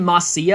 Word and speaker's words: Marcia: Some people pronounce her name Marcia. I like to say it Marcia. I think that's how it is in Japanese too.